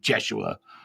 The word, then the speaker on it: Yeshua: because people because sometimes you'll hear me say jeshua um or yeah you know or Yeshua to me in my regression it sounded like